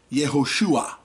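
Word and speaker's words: יהושע: Now, when we look up the Hebrew word 3091, we see it's the Hebrew word for Joshua, and it's pronounced Yehoshua.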